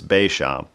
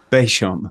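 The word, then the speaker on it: Béchamp: I believe it's Beauchamp. Beauchamp.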